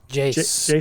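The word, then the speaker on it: Jacen: Jason Jace? Syndulla. Oh, it is Jason. Yeah. Sorry. It's Jason. J-A-C. It's spelled a little weird, yeah.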